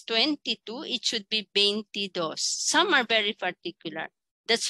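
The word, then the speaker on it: veintidós: want to say it's 22 it should be bentidos some are very particular that's why in financial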